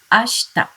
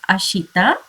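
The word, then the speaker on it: あした: cure q tomorrow is ashta ashta it is not ashita you have to pronounce it as ashta day after tomorrow now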